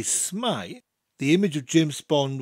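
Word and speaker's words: s'mae: saying hello every time I wanted to say smile the image of James Bond would then come to my mind of him saying hello in Welsh and I would instantly say smile smile for the next few phrases we need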